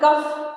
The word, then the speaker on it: cough: So we are getting the sound of F cough.